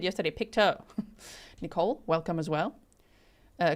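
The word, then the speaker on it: Pictou: Picto. Someone said yesterday, Picto.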